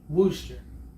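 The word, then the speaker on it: Worster: your last name edwin we stay worcester we stay w-o-r-s-t-e-r sister booster okay okay i always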